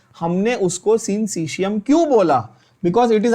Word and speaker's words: syncytium: Muscle fibre is अ सिंसिशियम। बहुत बच्चे ये वर्ड ही नहीं बोल पाते, प्रोनाउंस ही नहीं कर पाते। क्या बोलना है? रिपीट करो। मसल फाइबर फंक्शंस लाइक अ सिंसिशियम।